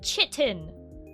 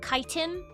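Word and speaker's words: chitin: Yes, I do pronounce it chitten. You know, like when you sit in a chair, like a ch sound because um yeah, I don't really care that apparently it's called kiten.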